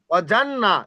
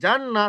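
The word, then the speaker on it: جنات: অজান্না, জান্না, অজানা নয়, জান্না তাসদিদ আছে।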